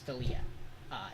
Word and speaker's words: Dahlia: I I might have said her name wrong. Dalia. It's Dalia, in blue.